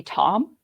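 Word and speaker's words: Thom: are going to be tom yeah which you think oh it's tom but it's spelled t-h-o-m but the h is silent and then uh this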